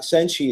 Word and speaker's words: Senshi: And Gemma, a little bit about Senshi, is that correct?